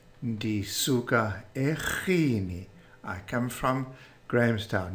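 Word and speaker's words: eRhini: The response: ndisuka eGhini. Ndisuka eGhini. I come from Grahamstown. Note the RH pronounced ch.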